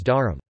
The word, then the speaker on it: dharm: Coda clusters are removed with the use of vowels. For example, dharm, religion, is pronounced as dharam.